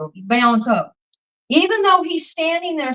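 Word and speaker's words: Bianco: So just because a man like Bianca, Am I saying his name right? I say it wrong. Biano. Biano.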